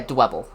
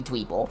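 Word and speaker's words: Dwebble: I mean it I call it dwble because I'm pretty sure that's how it's pronounced cuz you know it it's pebble.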